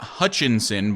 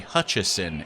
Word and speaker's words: Hutcheson: at this point and it is not Hutchinson by the way I'm not mispronouncing it it is actually Hutcheson it does not have an N first 10 from the